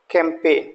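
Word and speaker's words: campaign: आप देख रहे हैं कैंपेन यहां जी लेटर को मैंने रेड कलर से दिखाया है तो जी का हम प्रोनंसिएशन नहीं करेंगे और इसको बोलेंगे कैंपेन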